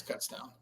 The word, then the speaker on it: Kutztown: No, I think you're right with Kutztown. We would say Coots as a joke, but no, it's Kutztown.